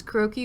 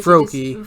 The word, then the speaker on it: Froakie: like he wears glasses croaky or other way froakie froakie oh sorry yeah I said his name wrong he's another one I